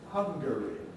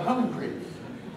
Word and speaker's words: Hungary: why we don't compress the name of the country hungary what would happen if you compressed it you become hungry and presumably the homophobic clash stops us compressing it well not always but generally stops us compressing it hungry all right now somebody